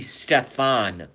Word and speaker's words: Stefan: his first name wrong it's actually stefan molyneux so it's a ste pH a n Molly new M Oh L Y n EI u X Stefan Molly new watch everything he's ever